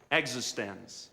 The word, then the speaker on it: eXistenZ: eXistenZ.